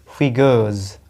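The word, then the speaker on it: figures: है फिगर्स of speech, इसका correct उच्चारण होता है, ये देखिए मैंने लिखा हुआ है फिगर्स, लास्ट में जेड है और पहले वाले सिलेबल पे क्या है, ये स्ट्रेस, ये देख रहे हो स्ट्रेस का चिन्ह है ये, ठीक है। तो ये हो जाएगा फिगर्स, और इसको ऑफ नहीं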